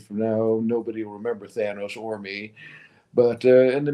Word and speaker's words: Thanos: How do you pronounce the Mad Titan's name? Thanos.